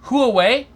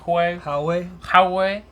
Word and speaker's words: Huawei: This is installed on Android devices from Huawei, and ZTE, sold in China.